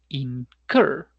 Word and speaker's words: incur: O el otro ejemplo, el verbo es incur, incurrir. No es incur, sino incur. Por lo tanto, el pasado se llamará incurred.